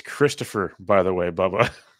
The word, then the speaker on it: Christopher: oh yansy eaten it's Christopher by the way Bubba the H is silent y oh that's great